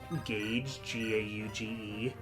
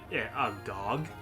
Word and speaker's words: gauge: For a really long time, I didn't know the correct pronunciation of gauge, G-A-U-G-E. Oh, yeah? I would, like, read the word all the time. I knew what it was, but I was like, a gog?